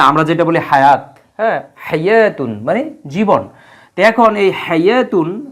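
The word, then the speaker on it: حَيَوٰة: টান দিয়ে দেখানো হচ্ছে যে এটা আলিফ মাকসুরা হাইয়াতুন এজন্য আমরা ওয়াও এর কিন্তু উচ্চারণ করি না কারণ ওয়া এর উপরে কোন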